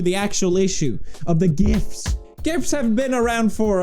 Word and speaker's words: GIF: thing that shows up gif with a hard G wow that really sure